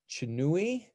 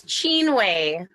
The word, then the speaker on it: Chinwe: Let's take Chinui. Can you unmute her, please? Hi. Hi, how are you doing? Did I pronounce your name correctly? Yes, it's Chinwe.